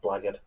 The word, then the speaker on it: blackguard: And I will relish slashing that blackguard Fulbright to shreds without mercy. It's pronounced blackguard.